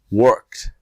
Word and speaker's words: worked: you must be patient pronounce the verb in the present after you put the sound of apostrophe d or t call called work worked all right so that ends